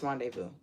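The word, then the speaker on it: rendezvous: wrong renous let's see Rondevu rendevu oh it's rendevu I never knew how it was SP r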